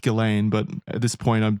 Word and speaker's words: Ghislaine: I say Ghislaine. I know it's pronounced Ghislaine, but at this point I'm too in deep